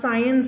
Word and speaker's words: science: ค ำ นี้ อ่ า น ว่ า science น ะ ค ะ ไ ม่ อ่ า